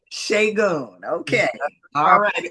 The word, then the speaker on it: Segun: It's Segun. I've been letting people get Okay. away because it's not in the American lexicon, but Okay. like shea butter, Segun. Okay. Shagun.